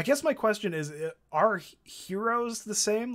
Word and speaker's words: gyro: my question is are heroes the same like i guess for somebody who doesn't know what a hero is like a gyro that's how it's spelled like gyro but it's it's called a gyro are they are they